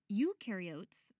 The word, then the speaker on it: eukaryote: Eukaryotes, the U rhymes with do, they do have membrane-bound organelles.